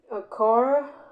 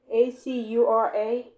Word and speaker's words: Acura: Enables you to watch all the action at the Acura, A-C-U-R-A. How you say that, Dave? Acura? Acura, Spell it again?